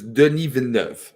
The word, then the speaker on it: Denis Villeneuve: First of all, no one can pronounce his fucking name. His name, okay, if you're listening, his name is Denis Villeneuve, okay?